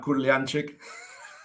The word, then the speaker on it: Kurlianchik: Yeah, it's it's not Gurliantzik. Actually, you pronounced it correctly.